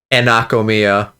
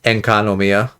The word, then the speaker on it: Enkanomiya: I think I've been saying Anakomiya. but it's Enkanomiya.